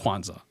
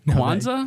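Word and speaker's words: Kwanzaa: spell that for me Quanza yeah is that like the holiday yeah like the holiday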